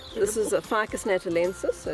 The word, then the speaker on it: Ficus: This is a Ficus natalensis, so it's indigenous to Natal. Ficus Natal. natalensis. Hold on. Oh, natalensis. Yes. Ficus natalensis. Still wrong, Zola. It's actually ficus.